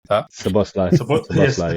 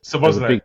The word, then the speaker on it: Szoboszlai: I can't pronounce his name, so I'm not even going to make myself look stupid. Szoboszlai, yeah. Szoboszlai.